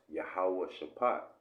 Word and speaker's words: Jehoshaphat: But when you actually go into the word Jehoshaphat, it's actually pronounced Yahawah Shaphat.